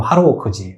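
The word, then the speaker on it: ハローワーク: 그래서 여기는 보면은 헬로워크라고 하는데 일본 발음으로 하로워크지.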